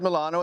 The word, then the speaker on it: Milano: As I said, Milano is how they say it in Italy.